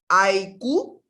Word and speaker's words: àìkú: But before we go into that, I want us to get the pronunciation very well. So for example now, àìkú, say it.